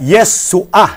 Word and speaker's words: Yeshua: meron pong furtive pata sa ilalim. Opo. Guhit yung Opo. ayen. Opo. Kaya yung pong ayen doon ay hindi ho pinopronounce. Ang tawag ho doon ay guttural or silent letter.